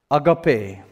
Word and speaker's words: agape: portion of scripture is the Greek word agape it's on the slide agape that's how you say it uh agape now